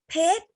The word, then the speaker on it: เพชร: แล้ว ตอบ พร้อม กัน ค่ะ 1 2 ซั่ม เพชร ถูก ต้อง คำ นี้ คือ คำ ว่า เพชร